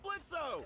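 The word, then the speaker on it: Blitzø: that's it sounds like blitzo the O is silent you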